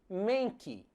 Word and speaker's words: Mankey: macaco porco bem Travesso chamado mankey Pois é assim como se escreve Monkey só que hoje em dia a pronúncia correta dele é Menck Ah então quer dizer